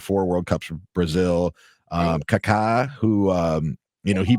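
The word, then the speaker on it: Kaká: is his last name but you know it's Kaka.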